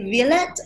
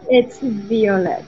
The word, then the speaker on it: Violette: Is it Violette or Violet? It's Violette.